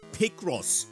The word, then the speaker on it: Picross: 704.6 Pokemon Picross pronounced Pic Ross like Rick Ross.